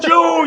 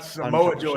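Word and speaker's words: Samoa Joe: Oh man, Steinermath will he like smashes syllables together, right? Like it's not Samojo, it's Joe.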